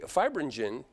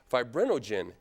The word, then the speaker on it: fibrinogen: plasma from which the fibrinogen I've mispronounced that the first time fibrinogen has been removed it's